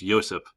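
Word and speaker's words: Josip: this Slavic language well you don't pronounce it like we do you pronounce it like a y so it's ysep Tito uh he rules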